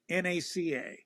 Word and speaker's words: NACA: and by the way it's always NACA not you never you never pronounce it as a word okay and